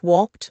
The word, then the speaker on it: walked: Pronouncing the ed endings in verbs can be tricky, but essential for clear communication. There are three sounds, td, and a d. Use t after voiceless sounds like walked or la.